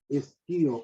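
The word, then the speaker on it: Scio: El nombre es la Sagrada Biblia y el autor es Don Felipe, se escribe con una S líquida, S-P-I-O, Esquío o Esquío, como se quiera pronunciar, Don Felipe Esquío de San Miguel.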